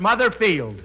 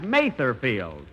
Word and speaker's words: Mather Field: is Mother's Day and we're at mother fields that's uh that's Mather field and allthough I pronounced it wrong last week I and speaking of